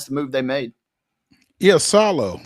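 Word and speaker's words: Iisalo: Yeah, Salo. So you pronounce both the I's there.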